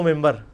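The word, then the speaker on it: منبر: ہوئی ہے، محراب و ممبر. ممبر کے سپیلنگ کیا ہے؟ من بر، لیکن پڑھا کیا جاتا ہے؟ کیوں؟ کیونکہ نون کے بعد، نون ساکن کے بعد بار ہے.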